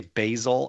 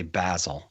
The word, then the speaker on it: Basil: if it's a person you say basil. Do you have any There was there was Basil faulty. Yeah. And Basil Wthbone. Like I feel like Basil is how you say it if it's a person.